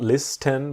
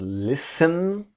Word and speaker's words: listen: So to listen to someone or something is about to give your attention to this idea that the T is silent. It's not list 10 but listen to listen to me, you, him, her, us, them.